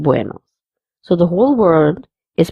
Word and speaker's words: buenos: The first word has to be pronounced very nicely and with a round mouth, buenos, instead of saying buenos.